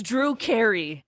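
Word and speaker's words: Drukhari: It's spelled goofy. Uh. Uh. D R U K. R. It's Drew Cary. Yeah. You know, from Yeah, like Harry Kerry.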